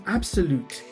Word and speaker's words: Abxylute: in case you're wondering how you pronounce that, well actually I've been told this is called the new Abxylute handheld console.